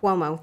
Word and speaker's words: Cuomo: Cuomo, thank you.